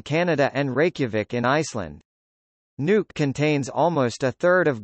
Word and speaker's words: Nuuk: Nuuk, Greenlandic pronunciation, Nuuk, Danish, Nuuk, Danish, Godhop, is the capital and largest city of Greenland.